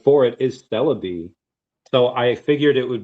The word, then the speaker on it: Celebi: and that was when I started going into Cerebi and all of that stuff and like, training Pokemon to try and get certain moves and stuff. But yeah, yeah. I is it called Cerebi?